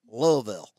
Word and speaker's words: Louisville: The practice tripled in revenue in less than 5 years and was the largest dental practice in West Louisville, pronounced Louisville. I lived there a summer.